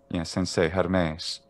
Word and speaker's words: Hermes: little bit what's a good um like um hermes would be the same pitch contour a sensei